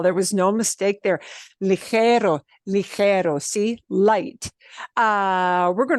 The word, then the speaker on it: ligero: And I noticed that you pronounced this word, which again has got one of those troublesome sounds really, really well. There was no mistake there. Ligero, ligero, see, light.